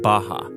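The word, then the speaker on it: Barra: is a place called Baja RS are pronounced like H in Portuguese this is a new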